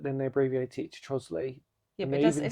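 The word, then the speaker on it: Trottiscliffe: And obviously the other one is Trosley, which is Trotters Cliff. Originally it's called Trotters Cliff but then they abbreviate it to Trosley.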